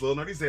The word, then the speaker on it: Lil Nerdy Z: My name is Lil Nerdy Z. That's how it's pronounced.